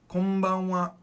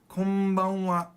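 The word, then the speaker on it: こんばんは: Konbanwa. Konbanwa. Now that N almost sounds like an M, doesn't it? Because when the N goes to the B, your mouth naturally makes an M sound.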